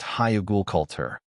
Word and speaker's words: Hügelkultur: It's called Hügelkultur. It's pronounced Hügelkultur.